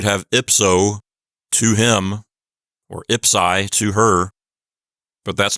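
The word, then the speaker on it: ipsī: dative singular we have Ipsy with a long I ipsi if this were just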